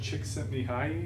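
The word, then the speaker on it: Csikszentmihalyi: are probably familiar mihai chick sent me high is how I was taught to say his name he has that great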